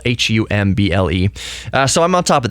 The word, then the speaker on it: Humble: We don't pronounce the H for the city. Humble, Humble.